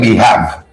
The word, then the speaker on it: behave: You know, how HAV you gonna be have? Wave, cave. So it's BEHAV. It's behave. It's behave.